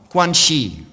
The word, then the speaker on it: guanxi: And the last one, guanxi.